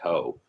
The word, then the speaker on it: too: T-O-O. It's pronounced toe.